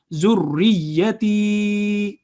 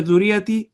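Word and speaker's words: ذريتي: And ta has a ya of elongation because there is a sukoon on it, so it would be long. Zurriyati. If we say zurriyati, would be wrong. Zurriyati is the correct pronunciation.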